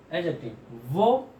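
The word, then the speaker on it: adjective: बेटा ध्यान सुनिएगा कि यहाँ पर ए और जे के बीच में डी की साउंड को प्रोनाउंसिएशन में नहीं लाया जाता है। एडजेक्टिव नहीं, एडजेक्टिव। ठीक, एडजेक्टिव।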